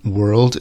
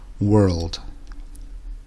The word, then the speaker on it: world: word for planet Earth the L in world is almost silent but it changes the overall sound a little word world next we have internal